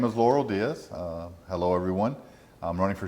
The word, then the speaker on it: Lauro Diaz: I'm here with Lauro Diaz. Am I pronouncing that right?